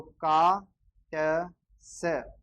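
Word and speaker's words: Katze: पे लिख देता हूँ, टी और जेड एक साथ आए तो आधा टे और से बोला जाता है, आधा टे और से बोला जाता है। तो का ट से, और उसके बाद में ई लास्ट में आ रहा है तो ए, अपन ने लिखा हुआ है पहले ही, ई लास्ट में आता है तो ए बोलता है। तो इसको क्या पढ़ेंगे, काट से, काट से पढ़ा जाएगा।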